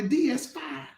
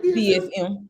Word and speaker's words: DSM: It's Margaret's ability to make the Bible read like the DS5. Did I say it right? DS5? Is that right? DSM. Put the M on there.